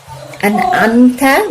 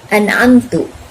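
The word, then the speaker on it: أَنْعَمْتَ: Atau kesalahan jali yang berikutnya adalah merubah harokat. An'amta menjadi an'amtu dan seterusnya.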